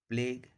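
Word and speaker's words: plague: यू ई साथ में है तो यू का उच्चारण नहीं करेंगे। इसको पढ़ा जाता है टंग, प्लेग, लीग।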